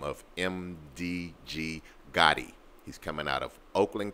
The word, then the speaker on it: Gotti: that's why I'm pronouncing it like that. MDG Gotti. All right, G-O-T-T-I on Instagram.